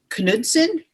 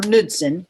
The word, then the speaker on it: Knudsen: It can either be Knudsen or Knudsen, depending on where you're from and how you want to pronounce it.